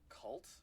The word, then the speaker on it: Kvult: Freaking, there's somebody making a game called Cult, but it's spelled with K. It's spelled KVULT, and it's cool.